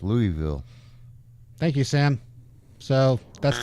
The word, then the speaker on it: Louisville: It says Louisville. Pronounced Louisville. Yeah, but it's pronounced Louisville.